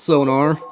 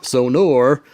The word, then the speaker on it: Sonor: Not Sonar, Sonor.